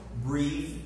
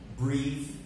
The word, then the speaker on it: breath: similar then we write instantly but we don't pronounce them the same way they have different see so breathe repeat after me breathe and breath breath okay we also have to